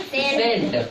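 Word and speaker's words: scent: इसमें कौन सा लेटर साइलेंट है? सी सी हम बताए थे सी साइलेंट कब रहता है जब वो एस के बाद आता है। तो यहां देखो एस के बाद आया तो सी क्या हो जाएगा? साइलेंट हो जाएगा।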